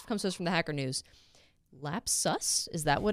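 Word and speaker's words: Lapsus$: is from this comes from The Hacker News lap sus is that what it's pronounced yeah it's us okay uh two lapses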